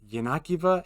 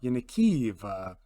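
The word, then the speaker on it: Yenakiieve: idea where I wanted to go apparently it's yanakiva and not yanikiva which is how I was pronouncing it if I remember right eventually uh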